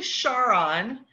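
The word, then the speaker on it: Charon: largest moon which you can see there is pronounced Sharan or Karan so it's actually char on it is tied to greco-roman myth as most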